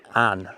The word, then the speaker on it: Avon: It's quite cool because that river down there is pronounced Anne, the River Anne, but it's spelt River Avon.